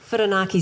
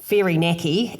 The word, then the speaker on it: Whirinaki: I live in Whirinaki, which I did get schooled on Facebook for the way I pronounced it. And I have to say, Whirinaki sounds way more beautiful than Whirinaki, as I pronounced it, so I do apologise if I caused offence.